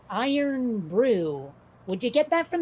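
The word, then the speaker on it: Irn-Bru: but i i learned about this it it's pronounced iron brew would you get that from this necessarily i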